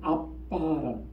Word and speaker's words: 아바: 원래이 말은 아라모 그래요 아라모 정확한 발음은 아빠라는 우리 말에 아빠하고 똑같아요 발음이 아빠라고 그 누가 아빠라고 하죠